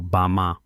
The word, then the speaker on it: Bama: Mientras tanto, en un remoto valle en el sur de China llamado Bama, pronunciado Bama, una de cada 3,000 personas vive más de 100 años activos musculosos trabajando en los campos cargando agua.